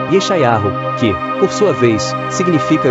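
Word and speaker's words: ישעיהו: Isaías, que em hebraico se pronuncia, Eschau, que por sua vez significa: "O Senhor é salvação, foi um grande profeta no antigo Israel".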